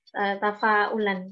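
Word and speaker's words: تفاؤل: Tafa'ulan pakai hamzah. Bukan dari fi'il ya, asal katanya ya. Bukan dari fa'ala, dari fa'ala, bukan. Bukan. Oh, baru tafa'ala. Memang istilahnya tafa'ulan. Bacanya persis dengan tafa'ulan. Tafa'ulan pun kayaknya juga berbuat yang senada gitu loh Ustazah.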